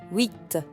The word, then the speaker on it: huit: Huit. Here the H is silent, so we say huit.